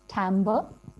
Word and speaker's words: timbre: musical term we encounter in the sound garden is actually pronounced timbre.